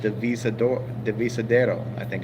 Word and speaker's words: Divisadero: in a place is called the visa door Divisadero I think it's how you pronounce like I've mispronounced it in the video kept saying the visa Dora but it's actually the visa Darrow and that means divided in Spanish like the